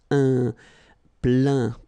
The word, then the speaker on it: plein: Remember this E-I-N nasal. So it goes in your nose and it's un plein, plein.